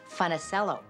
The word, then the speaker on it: Funicello: And we didn't even say Funicello then. My mom and dad sort of Americanized it and pronounced it Funicello.